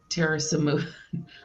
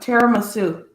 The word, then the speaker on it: tiramisu: Terrasamu. I can never say that. How do you say that, Dale? See, now you screwed me up. Tiramisu.